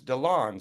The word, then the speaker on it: Dilan: my great pleasure to be talking with donon today it looks like it's spelled Dillan or that's how I wanted to pronounce it but corrected me and said it's donon so great to have you on the